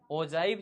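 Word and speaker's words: ogive: ओजाइव भी बोला जाता है इसको। प्रोनाउंसिएशन ओजाइव कहते हैं। तो ओव भी बोल देते हैं हम लोग बोलचाल की भाषा में।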